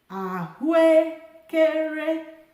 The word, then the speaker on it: ahụekere: Ahu, low, high, high, high, high. Ahụekere. However, because these 2 vowels have the same tone, I can just say ahụekere.